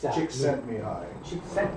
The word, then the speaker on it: Csikszentmihalyi: If you're going to be up doing presentations, you got to be able to say, Chick sent me hi. Chick sent me hi. Even though it's spelled Six sent me hi.